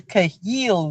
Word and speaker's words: Chayil: go and learn how to pronounce it. It's called the Chayil woman. You, So when yes. somebody said I said Chahil, I said, "Ah, please, No, I beg, I beg.